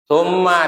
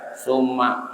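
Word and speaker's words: ثم: Nggak boleh dibaca summa, nggak boleh, tapi sum harus ada kerasa menahan mimnya. Sum mau panjang boleh, tapi minimal begitu. Mulut tuh nutup dulu. Sum nggak boleh, suma itu nggak boleh, tapi sum boleh.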